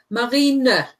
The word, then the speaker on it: Marineblau: Marineblau. Right, because there's an E on the end. There is no silent E.